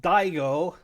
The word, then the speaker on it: Daigo: It is Daigo, D-A-I-G-O, and Daigo, which, if you're of Italian descent, that is not a complimentary epithet.